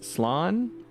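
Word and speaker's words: slán: Slan losers. Slan? A quick way of saying goodbye in Irish, a shortened version of Slan Abhale, or safe journey home. One dialect would pronounce it as Slan.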